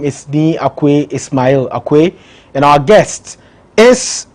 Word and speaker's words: Ismail: You corrected me this morning. I was saying Ishmael. I think the Muslims, that's how we pronounce it. Oh, it's Sumaila. Well, whatever. So the Arabic is Ismail, and then the house has corrupted it to Sumaila.